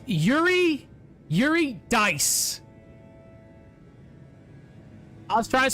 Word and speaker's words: Eurydice: It's Yuri Dice.